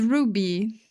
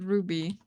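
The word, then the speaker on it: RWBY: I always spell R WB Y. No, it's Ruby. You just pronounced it Ruby.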